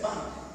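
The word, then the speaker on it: punk: era conocido como la la moda se escribe pun se dice pun eh p u n K la moda p eso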